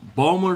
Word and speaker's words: Baltimore: yeah most people from baltimore don't there's baltimore but it's it's funny you have uh balmer folks balmer and you have bulma and